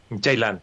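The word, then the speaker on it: Ceylan: And you said, yeah, the C is a J sound in Turkish.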